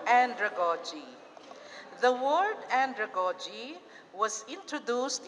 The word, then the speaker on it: andragogy: and andragogy thank you the pronunciation is first accent of the first syllable hindi pedagogy hindi andragogy pedagogy andragogy okay okay this is